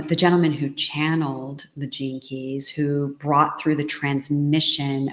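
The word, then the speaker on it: Gene Keys: off track there's a surprise okay genan Keys it's spelled GE NE ke y s Jean keys and it's an incredible modality that marries many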